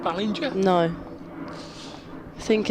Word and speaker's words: Ballinger: Ballinger. Like the ball bit at the front, though.